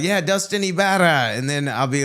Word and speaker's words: Ybarra: And then people were like, "No, no, it's pronounced Ibara."